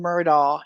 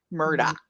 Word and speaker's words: Murdaugh: I appreciate that um they do keep saying murdal in court but it's actually pronounced and if you hear him say it it's Alec not Alex Murdoch which is I know I overdid that sorry